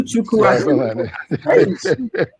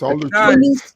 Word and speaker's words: Oluchukwu: You're pronouncing it like a Yoruba person. Oluchukwu. Oluchukwu. No, it's Oluchukwu.